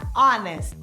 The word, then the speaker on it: honest: Veja a palavra honest. Por exemplo, ela inicia com uma consoante, o H. Mas esse H é mudo, ou seja, não tem som. Por isso, consideramos honest como iniciando em uma vogal.